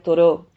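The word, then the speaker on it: Thoreau: darse en vez de decía toro que se escribe th ha toreado todo decía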